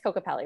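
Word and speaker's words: Kokopelli: She recently completed the Cocopelli Trail and it's Cocopelli, right? That's how you pronounce it?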